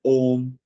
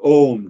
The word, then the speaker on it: Om: One explanation is that Om represents, Om has three syllables. The first syllable, A, represents the waking state, U represents the dream state, and Ma represents the sleep state, and all the three